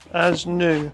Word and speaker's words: ASNU: So thank you to Bennett Engine Tuner, sourced these for me from Asnu, as it's pronounced, but yeah.